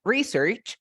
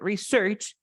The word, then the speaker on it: research: Recuerda que se pronuncia research como sustantivo and research as a verb. Okay, research, research.